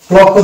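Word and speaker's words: clock: অনুচ্চারিত থাকছে সাইন থাকছে next short দেখবো ক্লক ক্লকও দেখতে পাচ্ছি শিকে পাশাপাশি আছে এবং শি কে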